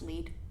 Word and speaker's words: Lied: ulsan lead and yes when I read it I thought it said line you can't find me a spell led but it's said pronounced lead there you go what